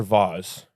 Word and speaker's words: vase: for French people maybe I feel like French people say vas sophisticated maybe maybe it's not French maybe it's just the right way to say it but I say vase vase Americans that's a vase